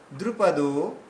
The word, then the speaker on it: দ্রুপদ: সব দীর্ঘ হয়ে যাচ্ছে দ্রুপদ দ্রুপদ দেখুন দ্রু আর পতটা দ্রুত এগিয়ে গেলাম দ্রুপদ এভাবে বলুন দ্রুপদ্রপদ দ্রুপদ্রপদ্রপদ দ্রুপদে আস না না না যদি আমরা বলি দ্রুপদ বললে দয় দীর্ঘ হয়ে গেল তাহলে এখানে হসু রয়েছে দ্রুপদ দ্রুপদ না দ্রুপদ বললেই দ্রুপদ বললেই হবে না দ্রুপদ্রপদ দ্রুপদ